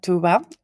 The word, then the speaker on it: Tuğba: We have with us Tuba. She has a silent G in between her name.